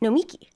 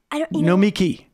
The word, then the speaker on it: Nomiki: Nomiki. That's I'm putting the emphasis on the wrong word. Everybody does it. Nomiki. And did I just say it right? Name. Yeah, Nomiki. Accent Nomiki. On the last syllable.